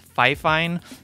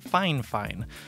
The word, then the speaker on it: Fifine: fine fine i know it looks like it's pronounced fi fine but in the past they actually reached out to me and corrected me and said that it's actually pronounced fine fine so i've been saying fine fine ever since but the thing about this microphone